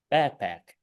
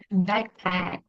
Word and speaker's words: backpack: and pack but um the word stress is the first syllable so it's not a